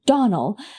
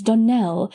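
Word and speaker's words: Donnell: "Clarice Almyra told me that you pronounced our name Donald. Now, Miss Shirley, the correct pronunciation of our name is Donell, accent on the last syllable.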